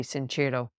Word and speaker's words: Sincero: is a book by Jensen Cerro or Jen sincero I'm not sure how she pronounces her name the Italian pronunciation would be sincero called you are a